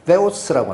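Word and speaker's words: θεός: 그래서 뭐라고 돼 있냐면 가지라라는 말이 있고 믿음이란 말이 있는데 그걸 수식하는 하나님을 이게 발음도 좀 정확치 않아요. theos라고 합니다.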